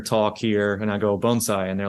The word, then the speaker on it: bonsai: it's very key because there's Bonsai I hear that a lot um I haven't really paid attention to how you say it Carmen but I've been taught bonai bonai yeah and so I've